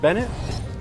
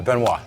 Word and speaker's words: Benoit: Is it Rich Bennett? Good, close enough. Yeah, Bennett. What's the pronunciation? Benoit. Benoit. Oh, yeah, French. I'm a Frenchman.